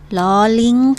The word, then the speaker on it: ล: ไป นั่น ก็ คือ ลอลิง ค่า lor Ling ก็ ออก เสียง รอ เหมือน กัน นะ คะ แต่ เรา ไม่ ต้อง รัว ลิ้น เหมือน รอ เรือ ค่ะ เด็ก ๆ สามารถ